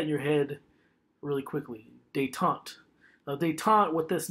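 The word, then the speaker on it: détente: it's a French word looks like detente it's pronounced they talked so say that in your head really quickly they talked now they taught what this means it's a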